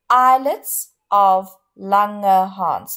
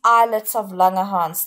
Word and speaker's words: islets of Langerhans: to just say it again and then I'll spell it islets of langerhans those are cells of the pancreas okay it's